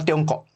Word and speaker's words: Tiongkok: Kalau kita lihat dari secara etimologis, Mas, nama asli Cina itu adalah Tiongkok. Itu dalam pelafalan bahasa Hokkien.